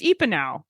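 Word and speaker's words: Epenow: I'm not really sure how to pronounce it. It's Epinow.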